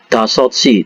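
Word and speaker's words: 다섯 시: a kesimpulannya Ya misalnya dasotsi dasotsi itu artinya adalah jam 5 Ya dasotsi seperti ini ya Ini bacanya dasoi jam 5.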